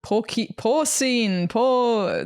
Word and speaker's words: porcine: Porcine, the piggy word.